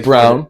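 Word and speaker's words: Braun: Bron who now is a NBA champ pronoun brown brown sorry I I pronounce it brown too so I place for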